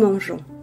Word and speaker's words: mangeons: Otherwise, it would be pronounced ge. For instance, nous mangeons, we eat.